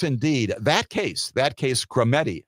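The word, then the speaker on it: Skrmetti: that case that case scetti scetti is the name of the case it is coming up for oral argument this coming Wednesday the case is spelled skrm TTI a case scheduled for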